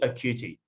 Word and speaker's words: Occhiuti: You haven't seen the reaction yet, but did we get the pronunciation of your name right? Is it Occhiuti?